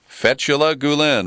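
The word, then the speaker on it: Fethullah Gülen: Fethullah Gulen.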